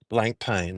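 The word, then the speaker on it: Blancpain: go whatever whatever Patel says that's how to pronounce it blank pain that's it blank pain can I ask you something with blank pain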